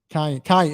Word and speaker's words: Kion: Is it Keon or Kion? Is it Kion? Kion. That's right, Kion.